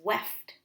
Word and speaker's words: weft: warp lines are called weft lines w-e-f-t rhymes with the word left and you are weaving